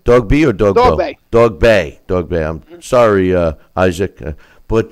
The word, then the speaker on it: Dogboe: How do you pronounce his last name? Dogboe or Dogboe?